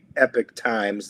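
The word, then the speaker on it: Epoch Times: The State Department, this is according to the Epic Times, that's the way they pronounce it.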